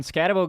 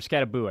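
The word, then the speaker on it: Skattebo: When Scatabo got hurt, or Scattaboo, I think is how you pronounce it.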